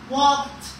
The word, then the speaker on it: walked: going to an easy so the easy is going to be pronounced like walk walked he walked we say